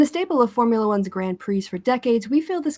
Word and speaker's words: Grand Prix: Grand Prix. Please, it's French. Yeah, you don't pronounce the S after the Grand. Grand. Grand Prix. Yeah, Okay, yeah. Grand. You pronounce it. Okay, the Grand Prix.